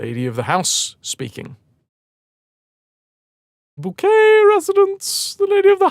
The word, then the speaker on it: Bouquet: Bouquet residents. The lady of the house speaking. Shade. It's pronounced bouquet.